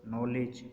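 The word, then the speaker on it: knowledge: मसलन उसने बोला नाइफ, नी, नो, नोक, नॉलेज। अब हमने देखा कहीं पर भी हमने की को प्रोनाउंस नहीं किया क्योंकि के बाद एन आ रहा है।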